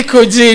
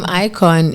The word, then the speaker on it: Ikojn: Okay, so actually the name Ikojn is my name backwards. Oh, Yes. okay. Yes. That's interesting. So if you look at it, it's actually spelled backwards, and the J is silent.